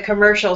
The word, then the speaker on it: commercial: believes everything that the commercial says. And in the word commercial, Vincenzo, the second syllable will be stronger.